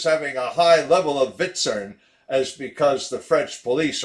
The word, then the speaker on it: VTSRN: VTSRN, pronounced Vitzern.